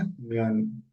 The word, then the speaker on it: 면: और कोरियन में इसको बोल सकते हैं मियोन। ठीक है। कैसे? मियोन।